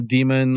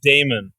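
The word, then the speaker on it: daemon: of stuff lyanna version 8.0 template Heaven Lenna demon Library a new field for last poll time stamp was added to the it's pronounced Damon yeah I know I can't I can't I'm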